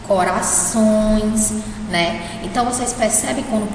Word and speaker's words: corações: Corações. Somente essa última sílaba, que é a sílaba onde tem o tio, é a sílaba que o som sai pelo nariz, certo?